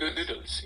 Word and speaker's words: Gödel: Did you say Gödel's incompleteness or golden incompleteness? Gödel's incompleteness. I'm pronouncing it in the German way.